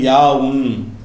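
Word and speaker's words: ياء: இது ஹா ஹாவுன் ஹா அதுக்கப்புறம் வந்து இதை ஏ என்று உங்களுக்கு சொல்லி தந்திருப்பாங்க. ஏன்ு ஒரு எழுத்து கிடையாது இது யாவுன் யா அப்ப எந்த எழுத்துக்கள் எல்லாம்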